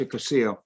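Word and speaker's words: יקותיאל: It's not common Ve, but it's common Yekutiel, and it's pronounced Yekusiel.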